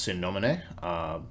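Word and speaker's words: Sine Nomine: For folks who are not familiar, Godbound is an RPG from, I believe it's pronounced Sin Nomine, link below for those who are curious.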